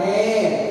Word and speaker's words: heir: It is silent. An R, he came an hour late. An heir, he is an heir to his father's property.